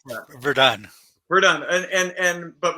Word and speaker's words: Verdun: My guest, Andre Verdone. How do you pronounce that? Verdun.